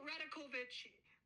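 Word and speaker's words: Rajaković: from the topic here it's dark radovic it's that's how you say it people figure it out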